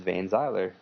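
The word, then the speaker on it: Vainziler: Adrien xhd vay Zyer is vay Zyer exactly how you would spell it v a i n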